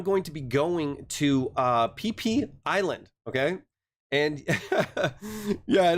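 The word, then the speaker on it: Phi Phi: So I'm going to be going to PP Island, okay? And yeah, I know, it's like Richard named it himself, right? This is PP Island. It's spelled Fifi Island in Thailand.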